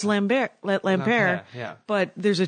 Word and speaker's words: Lampaert: Well, you see, I'm going to pronounce it without the T because it sounds more French. It does. But, you could pronounce it with a T. You could say Lampaert.